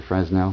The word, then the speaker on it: Fresnel: know the plastic kind it's called a frenel lens or fresnel depending how you want to pronounce it um works great for